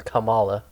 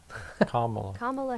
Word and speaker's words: Kamala: Kamala my bad see I was saying it wrong I was calling her Kamala CA comma Harris okay I I'll remember